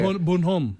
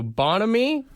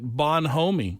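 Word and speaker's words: bonhomie: the English dictionary okay bonamy bonamy he was saying it wrong he was saying it like it was like snowman yeah yeah yeah bonom uh so bonamy is what it is cheerful friendliness yeah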